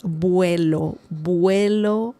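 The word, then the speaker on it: vuelo: The the next word is buo. Buo remember the v sound in Spanish is similar to b as in bell.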